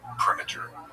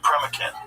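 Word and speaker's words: Proenneke: There's a guy, I'm going to get his name wrong. It's like Primiter, something like that. Uh and he in the 60s, Dick Premikin.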